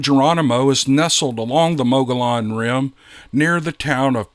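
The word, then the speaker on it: Mogollon: people say it's pronounced mogeon but that's not how it's spelled and i'm officially declaring that m-o-g-o-l-l-o-n is now and forevermore pronounced mogalon that's the official pronunciation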